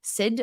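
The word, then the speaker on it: Syed: a book by Matthew Sid Sy y e d Sid I think it's pronounced and he it's called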